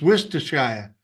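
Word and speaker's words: Worcestershire: correctly the W sauce it's Wier Shire Wier Shire oh what those that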